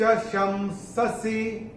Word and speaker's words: शंससि: और इस श के ऊपर जो अनुस्वार आ रहा है उसके बाद का अक्षर है स, और अनुस्वार के बाद जब स आता है तो अनुस्वार का उच्चारण होता है म।